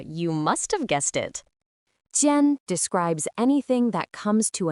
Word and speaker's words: 尖: Its pronunciation is tien.